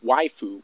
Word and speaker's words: waifu: And for those of you that are familiar with the term waifu, which is spelled W-A-I-F-U, waifu is a term that is